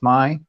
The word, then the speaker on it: Mei: king my hotel or mei that's pronounced my that was the name